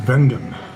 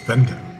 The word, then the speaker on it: Wengen: Vengen. Which starts with a W, but it's pronounced with a V. Vengen.